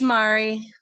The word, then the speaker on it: Mari: Is it Mary or Mari? I am so sorry. I think that's Mary the way it's spelled. Is it Mary? It's Mari. Oh, it's Mari.